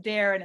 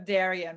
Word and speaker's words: Darion: I think I remember it's supposed to be pronounced Darren instead of Darion, right? Yeah, I was actually impressed. I was surprised that you remembered, but you're absolutely correct. That Darren. is actually the way my parents pronounce it.